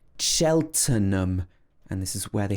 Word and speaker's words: Cheltenham: uh so this is cheltenham cheltenham so we don't say so the t e n in the middle is pronounced turn not ten it's not tan or ham it's cheltenham and this is where